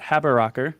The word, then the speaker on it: Haberaecker: live uh i am joined today by haber rocker did i pronounce that right you did wonderful and